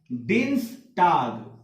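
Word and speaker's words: Dienstag: तो डे के बाद जब ई और ए दोनों साथ में आया है तो अब ये दोनों क्या हो गया, डी हो गया, ठीक है। DEANS, टे आगे, डिन्स टाग, क्या हो गया, डिन्स टाग which means Tuesday. Next MET, अब देखिए यहां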